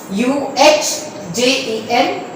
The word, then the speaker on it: agenda: उसको बोलते हैं AGENDA एजेंडा. UHJENDAA ये इसका प्रोनाउंसिएशन है. UHJENDAA एजेंडा.